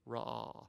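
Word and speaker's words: רָאָה: Ra'ah. It's pronounced this way, ra'ah.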